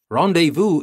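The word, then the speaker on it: rendez-vous: you can see that I'm trying to pronounce it in a French way because it is a French word and you will know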